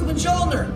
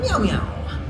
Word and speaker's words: Mjolnir: When Shuri says so, hit the infuser with Mjolnir! It's pronounced Mjolnir. Mjolnir. Mjolnir. Meow-meow. No, watch my lips.